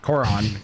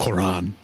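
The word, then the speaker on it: Korran: Corin, but Cororon Glass Works. Cororon.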